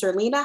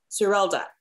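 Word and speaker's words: Serilda: And I love is it Zerlina? How do you say it? Zerilda. I've been saying it wrong all day.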